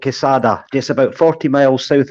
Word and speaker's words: Quesada: You're in Cassia. How do you say it? Yeah, I'm in a lovely little village called Quesada, just about 40 miles south of Alicante.